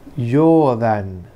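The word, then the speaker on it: 冗談: Esa palabra es y se lee yodan.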